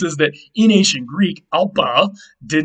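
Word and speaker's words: ἄλφα: Aleph became alpa, and yes, originally in Greek, that ph would have been pronounced p and not f. The f actually developed much later.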